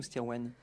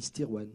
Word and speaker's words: Stirwen: Stirwen ou Stirwen? Oui, si on prononce François, on dit Stirwen.